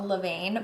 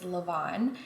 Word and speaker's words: levain: make our dough so yesterday i was saying a levine but the french proper way to say it is lavon and it is absolutely